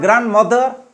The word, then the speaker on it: grandmother: Okay, ग्रैंडफादर, ग्रैंडमदर, grandson, grandparents, not grandparents but grandparents, not grandson but grandson, not grandmother but grandmother. D is silent. D is silent. Grandmother.